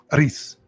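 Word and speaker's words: Erice: Over the 3 decades after the release of his previous film, the revered Spanish auteur Victor, is it Aris? Is that how you say it, Will? Aris.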